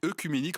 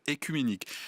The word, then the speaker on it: œcuménique: Non, lorsque il y a le o et le e en début de mots, ça ne se prononce pas e, ça se prononce et. Donc quand on dit esophage, on devrait dire esophage. Quand on dit, on devrait dire. Et écuménique, on devrait dire écuménique.